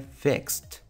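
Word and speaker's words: flexed: Otro ejemplo puede ser flex. Este verbo termina con un sonido entre X y S al final, entonces su pronunciación en pasado si le agregamos ed al final sería fexed.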